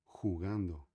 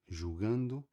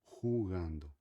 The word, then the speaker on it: jugando: Palavra jugando, tá? Não é julgando, não é, é jugando. Tá bom?